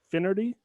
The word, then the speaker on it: Finnerty: guest here with us and i'm gonna pronounce it wrong i always do finnerty infinity that's perfect that's it nailed it all